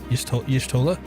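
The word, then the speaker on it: Y'shtola: It's supposed to be like Yish, not Yash. Yishtola.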